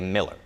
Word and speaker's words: Mueller: We Miller was always saying have Mueller. this discussion. I have called the homeowners association before, and they say Miller.